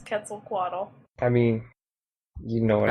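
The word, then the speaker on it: Quetzalcoatl: Wait, did you just mispronounce Kaquaddle? Maybe. Well, we're let's be honest. We're all probably mispronouncing it, but that's an especially egregious one. No, it's Ketzel Quaddle.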